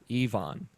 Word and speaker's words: Ivan: Ivan Lekovich, who I previously pronounced it as Ivan, I believe it is Ivan. He specified in chat that you pronounce it E-V-O-N, like E-V-O-N. Ivan.